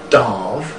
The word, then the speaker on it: Damh: Well, it's pronounced Darv officially.